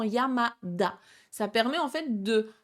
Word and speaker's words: Yamada: Yamata ne se dira pas, ça se transforme en Yamada.